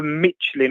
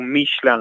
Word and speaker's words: Michelin: Was it a Michelin or Michelin as it's actually pronounced?